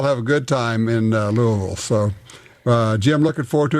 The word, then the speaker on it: Louisville: In Louisville, LUAHVUH. No, you got to say it like you got marbles in your mouth. Louisville.